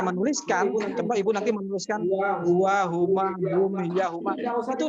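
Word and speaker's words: هو: Jadi kalau ada ha dengan waw, kalau itu kita tahu adalah domir, pasti bacanya sudah huwa. Nggak bakalan hawa atau hiwa atau huwi, nggak bakalan.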